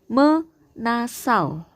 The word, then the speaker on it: menasal: dengan prefiks Jadi kalau ada kata menasal ini bacanya bukan meni anak-anak ya tapi menasal menasal kemudian ini disebut